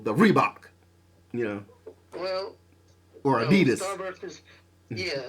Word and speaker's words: adidas: do really like adidas and uh well that's pronounced adidas but you know i'm not well of course